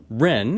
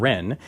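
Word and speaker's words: Hren: it Josh so Joshua Ren is that how you pronounce it that's right yeah it's a silent H re and Ren you are the founder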